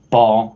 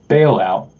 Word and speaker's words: Ba'al Out: of people pronounce it ball that's like correct how you pronounce the the Canan deity Ball but I actually pronounce it bailout like an economic bailout bailing out the banks